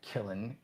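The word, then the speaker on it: Qilin: Kllin, I pronounce it Kllin. Q I L I N.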